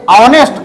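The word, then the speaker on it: honest: है इसका नेस्ट उच्चारण हो रहा आ ये ऑनेस्ट आ उच्चारण हो रहा है इसका आवर आ उच्चारण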